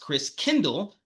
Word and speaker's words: Christkindl: So Martin Luther sought to refocus the people's thoughts on Christ, on the Christ child, which in Old German was pronounced Christkindl, later pronounced Kringle.